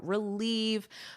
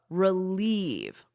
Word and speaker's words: relieve: Relieve. Relieve. The emphasis is on the second syllable and it's pronounced like the word "leave".